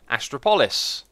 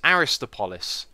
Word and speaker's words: Aristois: up here is called astropolis or no I've said that completely wrong after typing it in a moment ago and going over the pronunciation it is aristois and I really like